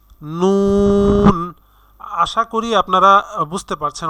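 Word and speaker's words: نون: নুন নুন।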